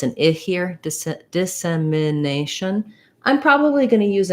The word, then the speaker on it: dissemination: very very short very little vowel going slowly dissemination dissemination dissemination okay that might have been more than you